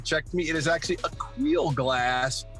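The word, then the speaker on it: Aqeel: Yes, and for years I mispronounced it until he finally checked me. It is actually Akil Glass. Akil, okay.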